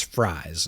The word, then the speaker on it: Fries: They said it's like the food. It's fries. And I said, "Cool. Thank you." Because I too struggled with that pronunciation. So, Will Fry is also now a Viking.